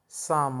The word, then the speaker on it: psalm: he interesting poem uh साम of life यह P silent होगा बच्चों और इसको हम साम पढ़ेंगे साम का मतलब होता